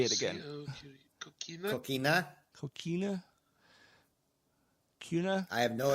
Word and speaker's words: Coquina: It is Coquina. I'm not going to say it again. Coquina?